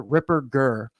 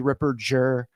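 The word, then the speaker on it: Ripperger: strong German name father Ripper G you know a a hard G not a soft G Ripper Jer and you know it's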